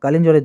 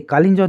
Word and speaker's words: কালিঞ্জর: তো মনে রেখো যে একটি দুর্গ ছিল, দুর্গটার নাম হচ্ছে কালিঞ্জরের দুর্গ। সেই কালিঞ্জর দুর্গ, কালঞ্জর নয়, এটা কালিঞ্জর হবে। হ্যাঁ, ইংরেজি বানানটা দেখো একটু।